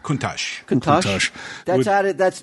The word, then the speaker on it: Countach: Uh, probably Lamborghini Countach. Is that how that's how pronounced? Mhm. Yep. The Lamborghini Countach.